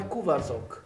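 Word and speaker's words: Kuvaszok: É um pastor húngaro. Esse é a pronúncia correta. É, na verdade, no singular é Cuvas, no plural é Cuvasok.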